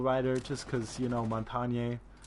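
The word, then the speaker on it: Montagne: just because you know montagnier montagnier is how it's pronounced in France and from what I when I'm told but then at another friend's person say it's Montaigne very confusing but it means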